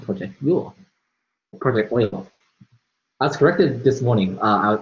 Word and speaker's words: Euler: to use a site called project rule project oil as corrected this morning uh I'll say yoga the whole time until someone told me that